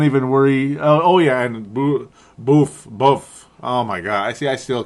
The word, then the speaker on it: Boof: Buff. Yep. I'm never going to say it right. I am never going to say it right because of Boof Bonsar.